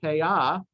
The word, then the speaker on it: payah: from this word, the payah. Payah is singular, payot is plural, pronounced in the modern Israeli way. Pronounced in the Ashkenazi way, it would be payos or payas, and that's why it's these.